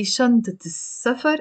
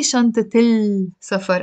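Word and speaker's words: شنطة سفر: Or if I want to say the suitcase, I say shantat safar, shantat safar. The scene in safar is a sun letter, so I don't say shantat il safar. I'm not going to pronounce the lam.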